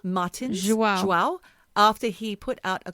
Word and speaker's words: João: João Martins? João.